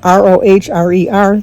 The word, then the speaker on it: Rohrer: It's Alan and Bonnie Rohr, Rohrer. Thank you for letting me know how to pronounce it. She said it pronounces like roar.